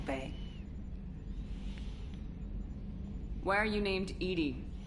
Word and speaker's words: EDI: why are you named Edie Edie is the phonetic pronunciation of EDI that is an acronym for enhanced defense intelligence let's discuss something else